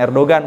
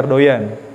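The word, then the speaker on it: Erdoğan: atau erdoyan presiden Turki bukan Erdogan bacanya erdoyan rasib Thayyib erdoyan atau er ente bacanya Erdogan orang Turki bacanya Erdogan itu ketika khatibnya turun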